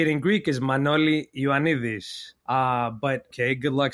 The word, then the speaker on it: Ioannidis: I get it, but ultimately, the consolation was Manoli Ioannidis. It rhymes with Leonidas.